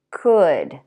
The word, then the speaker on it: could: Would. Should. Could. All of those words have the same vowel and the L is silent.